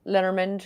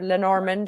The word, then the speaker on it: Lenormand: No, I've no interest in Marseille or Lenormand or Lenormand as others pronounce it.